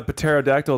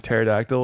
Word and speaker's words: pterodactyl: But the thing is, I think I knew that the P in pterodactyl was silent, but then I just like saying pterodactyl.